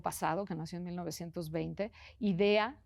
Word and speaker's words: Idea: Idea como qué buena idea, tal cual, así se escribe sin h, sin nada.